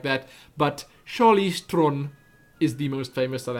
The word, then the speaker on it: Theron: You know, she calls herself Charlize Theron, because that's how you say it here, Theron. So it sounds weird, I know, but that's actually how you pronounce her name.